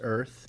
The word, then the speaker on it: URTH: T-shirt, like a white T-shirt that said URTH Earth, Okay.